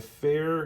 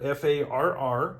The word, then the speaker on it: Farr: Hodge so the fair f-a-r-r which by the way is pronounced fair not far just so you're aware